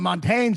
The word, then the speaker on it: Montaigne: You ever heard of the French philosopher Montaigne? Ray LaMontagne, the singer? No, of course I haven't. Jesus. Well, I don't know. Is it obnoxious to be like, well, you know what Montaigne says?